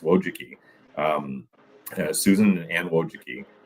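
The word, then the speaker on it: Wojcicki: Don't ask me to spell it, but it's pronounced Wojuki.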